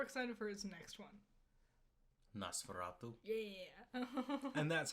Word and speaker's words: Nosferatu: it I'm more excited for his next one Nosferatu yeah and that's how you pronounce it uh the witch is terrifying the